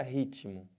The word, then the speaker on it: ritmo: quero dizer com isso olha a palavra ritmo Eu tenho uma consoante eu tenho outra consoante uma do lado da outra e cada uma tem o seu som eles falam que esse T aqui é mudo né mas não tem nenhuma letra que fala então dentro desse negócio de mudo se você ouve o t ele tem som se você ouviu ele